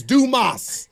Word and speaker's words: Dumas: getting Jason's name wrong it's Dumas yeah Dumas what I tell people do just do okay and then more in Spanish MOS okay got I'm leave that do yeah no Moss like Roberto Durant yeah but